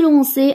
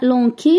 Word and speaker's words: lançais: Il appelait, nous appelions, nous essuyons, ils essuyaient, tu lançais avec la cédille, sinon ça va se lire lanqué, donc on ajoute la cédille, nous nous lancions sans céder, puisque c'est avec i, ça se prononce i.